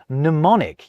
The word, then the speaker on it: mnemonic: The same goes with words like mnemonic. You can't kick off an English word with a mn. You just can't. So we skip the M. However, in other words like insomnia, that mn sound is A-OK. Insomnia. Mnemonic. So it's an N.